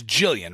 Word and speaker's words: Gillian: Aboard for Christen Glover uh Gillian is it Gillian it's Jillian right she does the soft G in her name yeah she's not we have our Gillian she is their Jillian Jillian all right uh we